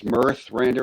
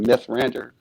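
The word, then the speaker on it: Mithrandir: We didn't really know too much about it, and I guess we probably misheard it as Mirthrandir instead of Mythrandir.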